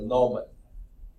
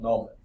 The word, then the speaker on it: gnomon: Now, another name for that is a gnomon. I think the G is silent, gnomon, okay?